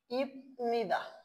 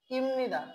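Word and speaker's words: 입니다: তাহলে কি আমরা সচরাচর যে উচ্চারণটা করি ইপনিদা, সেই ইপনিদা উচ্চারণটা কি আর করার সুযোগ নেই। তাহলে উচ্চারণটা কি হয়ে যাবে? ইমনিদা।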